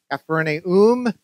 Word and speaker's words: Capernaum: verse 24 says this when they came to capernaum the letter bible says it's pronounced capernaum comes from the hebrew meaning the village of